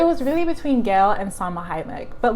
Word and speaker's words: Salma Hayek: to be saw majimak Hayek I said her name wrong Salma Hayek and my best for the Oscar Cynthia really